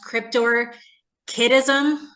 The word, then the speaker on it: cryptorchism: twice uh it also I believe is pronounced kryptor kism oh I see the